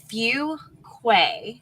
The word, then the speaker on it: Fuquay: Yeah, everybody says it's wrong. It's Fuquay. Fuquay. And there's always that awkwardness when you tell somebody like, yeah, we're from Fuquay, Varina, and they're like, can you spell that?